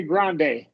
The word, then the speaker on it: Grande: Ariana Ariana okay but this is Spanish word so we're we're gonna say Grande Long a grande okay Grand yeah Grande yeah like a f